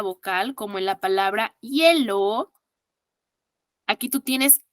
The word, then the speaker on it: hielo: Hielo, aquí no tiene un sonido vocálico. Hielo, hielo. ¿Me das un vaso con hielo? Suena como doble L, ¿verdad?